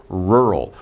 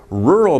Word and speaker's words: rural: the pronunciation a rural be careful because pronunciation is right r and l rural rural means you're in the